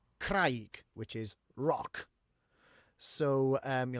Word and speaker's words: craig: One of the only words in Welsh that actually rhymes with gwraig is craig, which is rock.